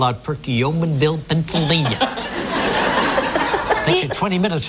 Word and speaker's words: Perkiomenville: Elaine Hoffman from, let's see, how do you pronounce this? Perkiomenville. Perkiomenville, yeah, Menville. Perkiomenville from Pennsylvania, yes. Hi, Elaine. Hi, Regis. How do you pronounce that town that you live in? Perkiomenville.